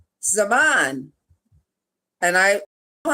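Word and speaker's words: זמן: Number 4, Zaman. And I know how to say this one correctly, so I'm going to spell it. Cheirutenu. Again, Zaman, Z-M-A-N, Cheirutenu.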